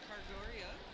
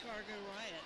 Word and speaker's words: Cargo Riot: Is that Cargoria? Is that how you pronounce that? Cargo Riot, or just Riot, I was trying to be funny. or just Riot. It's Cargo Riot.